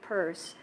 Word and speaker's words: Peirce: By the way, it's pronounced, it's P-I-E-R-C-E is the word purse, Pierce, but his name is P-E-I-R-C-E, and that's why it's pronounced purse.